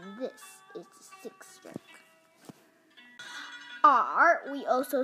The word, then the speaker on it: 耳: The pronunciation for ear is r, r.